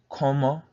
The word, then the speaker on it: cómo: Again, como, C-O-H, is how you pronounce it, co, and then the second half of the word, mo.